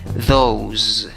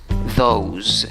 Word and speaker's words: those: más o menos y acaben z la pronunciación no acabe en ese cómo pronunciar la palabra show those those asegúrate de pronunciarla con